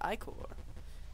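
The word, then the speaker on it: ichor: with magical eye coral that's pronounced i-core choose your i-core wisely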